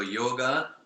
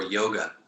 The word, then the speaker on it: yoga: See, in when we say yoga, it's yo is like, it's a very straight, and I would say a simple sound, yo, as opposed to yo. Yeah. It's almost like yo. Yeah. It's the anglicized yo. It's yoga, and then there's yoga. Yeah. Right? It's a simpler kind of sound.